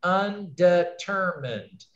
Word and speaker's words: undetermined: Undetermined, undetermined. I've got 4 syllables. Where's the main stress? I'll just say it, undetermined, undetermined. Determined. I'd say it's right here, right? It's the 3rd syllable.